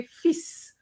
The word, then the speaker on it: fils: I think you did do it, but not, you can say fils, not, the way you did it. So, okay, you have to pronounce the S, even though we're talking about just one son.